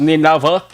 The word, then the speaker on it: Nineveh: Kung ato ni sabi sa basahon mga ka-aksyon, Nineveh, N-I-N-I-V-E, parang pronunciation niya is Nineveh.